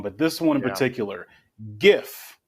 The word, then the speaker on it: GIF: and it stands for It's GIF. graphic something that computer people know more than me. And graphic is a hard G.